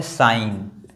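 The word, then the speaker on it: sign: ये जो जी है वो साइलेंट है। जब हम पूरा लिखते हैं जैसे सिग्नेचर लिखते हैं तब हम जी को प्रोनाउंस कर देते हैं। लेकिन अगर इतना केवल साइन लिखना है तो जी जो है वो साइलेंट होगा।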